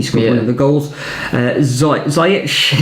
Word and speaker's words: Ziyech: Ziyech is how you pronounce his name.